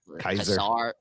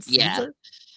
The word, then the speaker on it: Caesar: I love the little running gag that they're pronouncing Caesar wrong. It was like Kaiser. Kaiser. Yeah, Kaiser. He's like, that's more German. You guys have more of a Roman thing. Are you pronouncing this right? Do you mean Caesar?